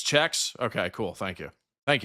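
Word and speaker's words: Czechs: Is it checkins or checks? God, I need a uh I need a lesson in uh how to say not only how to say the names, but how to properly say the country and the cultural references from uh from this country, man. So, it's checks.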